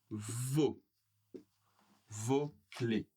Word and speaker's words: vos clés: Donc ici, pluriel, vos clés. On ne prononce pas le dernier S.